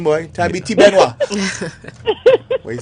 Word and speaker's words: Thabiti: It's Tabiti. It's an African name. What it means is? a true man. What it is? Tabiti.